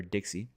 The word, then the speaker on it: DXY: Well, the US dollar index chart, known as the DXY or Dixie, as some people pronounce it, is very, very, very, very, very bullish.